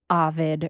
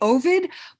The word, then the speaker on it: Ovid: The classicists, the experts seem to say Ovid, but I stick with Ovid.